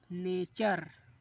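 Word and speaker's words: nature: जब टी के बाद यू आर ई हो, जब टी के बाद यू आर ई हो तो टी को चा पढ़ते हैं।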